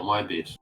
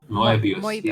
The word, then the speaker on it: Moebius: Moebius, am I pronouncing it well? The comic book artist? Marvel? No, Moebius. Moebius.